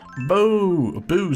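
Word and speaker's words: Beau: Okay, Bo is correct. Gotcha. That's what I think, because whenever I see, like, E-A-U-X, or, yeah, no, so, yeah, E-A-U-X, that's pronounced O.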